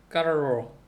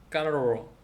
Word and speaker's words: carro: 근데 RR 더블 R이 있는 경우가 있거든요. 이거는 진짜 이제 막 진동을 아주 그냥 바이브레이션을 막 해야 되나 봐요. 까르로 CARRO R이 두 번 들어서 까르로.